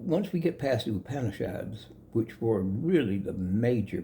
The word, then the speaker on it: Upanishad: But those books, especially one in that group called it Katha, K-A-T-H-A, Upanishad. It's pronounced U, not up.